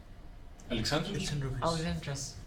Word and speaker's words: Alexandrovich: Alexandrovich.